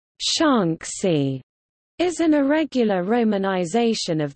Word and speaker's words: Shaanxi: Because the Mandarin pronunciation of Shaanxi and its eastern neighbor Shanxi differs only in tone, their spelling in Pinyin romanization differs only by tone marks, Shanxi and Shanxi, respectively.